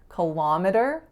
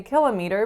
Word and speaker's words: kilometer: stress is totally different so in the Canadian version kick is the winner and then we have a schwa and then me that are both in full form kilometer kilometer of course in the States people don't tend to say kilometer nor do they tend to say killa meter because everything's and miles so